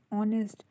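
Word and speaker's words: honest: inch लग गया कि ध्यान से देखिए एंड ऑनेस्ट हम कभी भी होंगे इसलिए बोलते हैं हमेशा ऑनेस्ट बोलते हैं ओके और इससे पहले हमेशा हमारा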